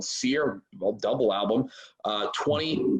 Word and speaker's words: CYR: video for the title track which is called seer spelled cyr by the way pronounced here because it's billy's world you can